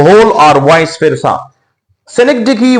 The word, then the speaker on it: synecdoche: याद रखिए इस लफ्ज की जो सही प्रोनाउंसिएशन है वो है सेनेक्डकी। सेनेक्डकी, सेनेक्डकी।